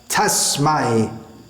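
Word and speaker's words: tasmai: has see that but that sir should be pronounced tests my not as my that sir should not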